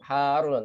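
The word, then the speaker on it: حارّ: Jadi kita bacanya di sini sebenarnya bukan mad lazim harfi musyabba, Bu ya. Tapi kita dua harokat kan cukup, harun, tapi tetap dipanjangkan. Jangan langsung kalau harun, jangan. Harun. Kalau dalam bahasa tajwid itu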